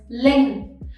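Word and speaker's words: Linh: one we have is ling again this one ends with the nh sound right so you have to stretch your mouse to the side and next one we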